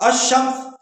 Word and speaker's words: الشمس: یعنی کہ شمسیہ میں جو لام ہے نا وہ سائلنٹ ہو جاتا ہے، لکھنے میں آتا ہے، تلفظ میں نہیں آتا. الشمس، الصواب، الدال، الزال، الراء، الزا.